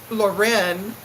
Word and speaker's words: Loren: She likes to be pronounced Loren. Oh, you like it Loren too? Like Sophia Loren, kind of sounding like that?